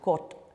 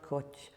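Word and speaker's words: кот: The T, when it doesn't have a soft sign, is not so aspirated. So the word for a tomcat is kot, not koch, kot.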